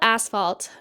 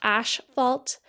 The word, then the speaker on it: asphalt: yes you heard right we call it asphalt not ash fault cuz that's how it's spelt you know but also